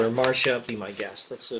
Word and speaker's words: Marcia: was much closer to Marcia. The C is always more like a K. The Latin C is like an English K. Also, the Elfish C is like an English K. Okay, who is Marcia?